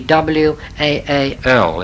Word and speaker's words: Waal: It is actually the W-A-A-L, it should be, and not W-A-L-L. I suppose in German, no, Dutch, it's pronounced something like Waal, you see. The Waal River.